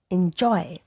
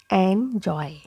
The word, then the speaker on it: enjoy: has I sound so it is enjoy enjoy not andjoy okay letter Y doesn't have Y sound it has I sound so it is injoy enjoy letter e and Y have the same sound enjoy now I hope you